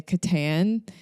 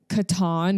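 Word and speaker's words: Catan: it's called Katan um I also think that's a hot take for how you pronounce it because um some of my friends say Katan um I personally try not to sound like I have a Midwestern accent so Katon is what I say because Katan literally sounds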